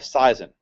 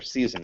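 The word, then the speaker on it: seisin: is what's called The Covenant of seizon or season I heard it pronounced both ways I don't know if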